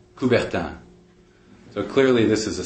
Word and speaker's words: Coubertin: And both of those names rhyme with the Olympic founder, Coubertin.